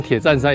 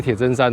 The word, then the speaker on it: 鐵砧山: 其实这个字正确发音应该是真啊，知恩真，但是我们可能从小到大念习惯了，把它念作铁站山。